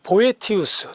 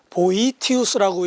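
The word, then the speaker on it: Boethius: 하고 싶은 사람은 학자는 그 보에티 우스 또는 보이 t 웃으라고 이 발음을 하는데 보이 t 웃어 어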